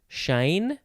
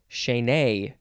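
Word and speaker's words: chaîné: Next is, I think it is pronounced chaîne. You got to emphasize the nay, chaîne.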